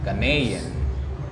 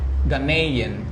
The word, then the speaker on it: Ghanaian: Yeah, you say Ghanaian and I say Ghanaian. Yeah, you're saying it like the North American way.